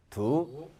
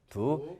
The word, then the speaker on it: 独: 받침이 기억이니까 없어지고 도만 남고 도하고 비슷하게 발음이 되는데 D는 바다가대 서산장에 해당이 되죠. 그래서 일성과 사성이라면 쌍디귿, 즉 된 소리가 날 텐데 이성이기 때문에 그냥 그대로 디귿으로만 나죠.